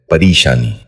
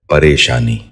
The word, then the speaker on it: پریشانی: غور سے سنیے، پلندہ۔ چوتھا لفظ ہے پریشانی۔ یہ غلط تلفظ ہے، اس لفظ کا درست تلفظ ہے پریشانی۔ بچوں آپ غور سے